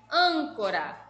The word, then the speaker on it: âncora: Âncora, âncora já tem acento, então sabemos que a sílaba tônica é o an, âncora.